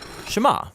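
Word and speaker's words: שמע: Now, the first word of the Shema is hear or listen, which in Hebrew is pronounced Shema.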